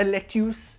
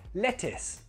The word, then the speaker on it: lettuce: It's not a lettuce, no, it's a lettuce with an I sound, lettuce.